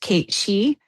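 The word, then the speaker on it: cait sìth: And I tie it to I think it's pronounced Kate She, the Scottish fairy cats.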